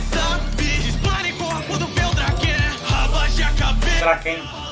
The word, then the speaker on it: Draken: Na moral, o Draken já é meu preferido. Tava falando errado, Draken, né? É Draken, pelo que ele pronunciou aqui no rap.